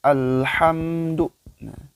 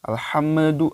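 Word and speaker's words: الحمد لله: ke ayat keduanya Alhamdulillah kalimat alhamdu lillah dalam sukun dalam sukun itu sama ditekan membacanya Al al-hamdu jadi tekan bacanya dan usahakan dan diharuskannya diwajibkan jangan memantul Hai jangan bacanya Ale alham alham tidak boleh ya tapi aku tahan tekan al al al itu Alhamdulillah kemudian dan mim sukun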